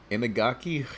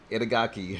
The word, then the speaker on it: Itagaki: Inagaki? Hang on. Creator of DOA. What, is that how you say his name? Itagaki, yeah.